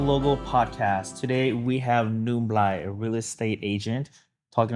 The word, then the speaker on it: Nublai: My name is Nublai. Hmong pronunciation, Nublai. So yeah, yes, just like the story.